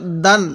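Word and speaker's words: دًا: দাল আলিফ দুই জবর দান দালটা একটু শক্ত করে উচ্চারণ করব দাল আলিফ দুই জবর দান দাল আলিফ দুই জবর দান দালটা নরম করে উচ্চারণ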